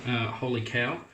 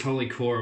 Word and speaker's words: Holy Cow: being hauled holy cow thought it was holy core I've been saying it wrong the whole time shree over at holy cow had issues trying to get a domain name and could only get a holding call like k aw but it's meant to be holy cow so I've been saying